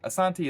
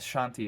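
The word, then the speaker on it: Asante: if you hear me Asanti is how they say it and Shanti is pretty much the Ango siiz version of saying it he was saying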